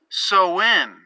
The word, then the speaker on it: Samhain: So the tradition originated with the ancient Celtic festival, Samhain, spelled S-A-M-H-A-I-N. But it says it's pronounced Sowin, S-O-W-I-N.